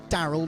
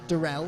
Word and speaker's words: Daryl: clarification from daryl that it is daryl not darrell i've um i've been